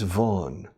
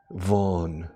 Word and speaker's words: Vaughan: In English, it's Vaughan. It's a Welsh name. Es un apellido galés con una rama irlandesa. Vaughan, Vaughan. Y la V se pronuncia casi con F. La V en inglés es como una F vibrada. Vaughan, Vaughan. Como James Bond, pero casi. Richard Vaughan.